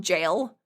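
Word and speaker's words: gaol: But like in Final Fantasy, there is a boss that has a move that is called jail. That is spelled G A O L.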